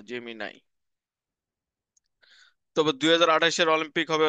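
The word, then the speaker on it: Gemini: হচ্ছে গুগল ঠিক আছে জেমি নাই উচ্চারণ এটা জেমিনি না জেমি নাই তবে 2028 এর অলিম্পিক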